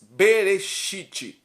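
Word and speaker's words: בראשית: do hebraico no hebraico nos papiros hebraico se pronuncia Gênesis bereshit em hebraico que significa o sítio na gramática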